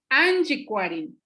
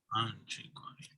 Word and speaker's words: Anchicuarini: escuchado con personas hablantes, ella sabe que esta palabra lleva un acento en la primera A, Anchicuarini, ¿sí?